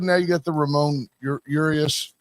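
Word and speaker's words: Urías: And you got the now you got the Ramon Urius. That's that's how they say it is Urius.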